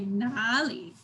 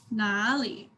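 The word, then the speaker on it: 哪里: The first word is nali. So first syllable is down, nali. And the second word, instead of sharp and down, it's deep. So we're going to say nali, nali.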